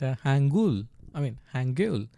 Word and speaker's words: Hangul: The language that you are learning right now, it's pronounced Hangul.